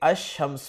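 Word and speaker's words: الشمس: अल कमर में अल के लाम को प्रोनाउंस किया जा रहा है जबकि अशम्स में अल के लाम को प्रोनाउंस नहीं किया जा रहा।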